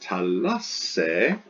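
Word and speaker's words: θάλασσα: Now, for instance, if you were reading Homer, this word would be pronounced talasse, talasse. It'll have a double sigma and an eta instead of the double tau and alpha.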